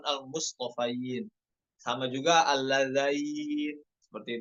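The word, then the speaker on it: الْمُصْطَفَيْنَ: Perhatikan huruf to dan huruf fa-nya, bukan al mustofin namun al mustofain.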